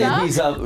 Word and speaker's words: Ibiza: you do Yeah, little where on tour Ibiza did you like in trips?